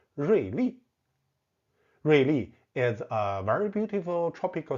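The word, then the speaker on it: 瑞丽: Ruili is a very beautiful tropical city. The pronunciation is the same as sharp, but the character means lucky and beautiful.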